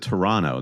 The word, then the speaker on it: Toronto: Toronto Canada yeah but you have to pronounce it Toronto that's what I'm learning if you pronounce the extra t uh somebody here in